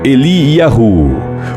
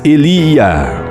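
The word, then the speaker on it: אֵלִיָּהוּ: O nome Elias é pronunciado em hebraico Eliyahu, por vezes Eliá, que tem por significado "O Senhor é o meu Deus".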